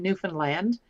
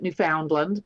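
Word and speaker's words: Newfoundland: in Canada without falling off the edge in newfinland a lot of people pronounce it New Foundland but it's uh natives call it newfinland um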